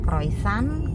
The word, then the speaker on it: croissant: Tulisannya croissant, kita membacanya kalau di Paris itu croissant.